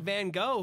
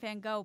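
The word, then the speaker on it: Van Gogh: he because of us we call him Vincent Van go but I feel like we're saying it wrong oh it's van gof I think so I've heard British people say that I haven't heard that's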